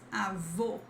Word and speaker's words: avô: Then we have this avô, avô, against avó, avó. Whenever you see this accent mark, which looks like a hat, you have the close sound.